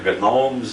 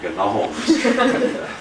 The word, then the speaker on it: gnomes: Harold Wilson called them the Gnomes of Zurich. As far as I know, he was the only one that ever pronounced the G in gnomes. We call them the Gnomes of Zurich.